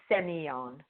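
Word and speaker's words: Sémillon: Yeah, the two L's are pronounced like a Y, so it's Semillon.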